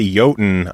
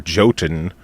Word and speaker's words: Jotun: says it now so every time I say yotan I also correct it to the improper Jotun because so many other